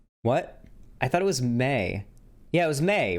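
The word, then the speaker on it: Mei: I thought it was May. Yeah, it was May, right? It was May. Yeah, it's May. Not Mai.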